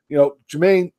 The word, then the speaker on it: Jermaine: So, Jermaine, I actually said it right that time, and I was going to correct myself.